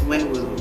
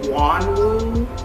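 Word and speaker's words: Wonwoo: So my friend pronounces his name as Winwoo, but when I googled him, it's definitely Wanwoo.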